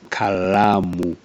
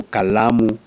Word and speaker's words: kalamu: It's borrowed from the Swahili word kalamu. But Kikuyus have a problem with L, so they usually substitute with R. So kalamu becomes karamu.